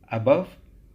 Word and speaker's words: above: in stressed syllable, and we can here see the difference between the pronunciation of schwa at the beginning of the word and the pronunciation of O sound at the middle of the word above.